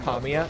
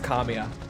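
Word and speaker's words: Kamiya: Kamya that is actually how it's pronounced. It's Kamia.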